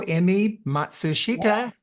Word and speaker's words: Emi Matsushita: Hello, Emi Matsushita.